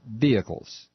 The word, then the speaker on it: vehicles: vehicles hybrid vehicles uh you don't pronounce the h chucklenuts trust me on this it's vehicles uh hybrid vehicles they're